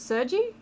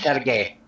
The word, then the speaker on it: Sergey: So, is it Sergi in this story? Am I saying it right? Sergey. Sergey. Okay.